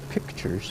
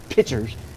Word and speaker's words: pictures: Don't paint pictures, normally pronounced pictures for you English second language people. Pictures is correct. Pitchers is what you pour water out of.